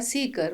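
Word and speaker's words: Ceekr: कर रहा है मुझे तो स्पेलिंग है सी डबल ई के आर और बोलने में आता है सीकर मतलब जो कोई खोज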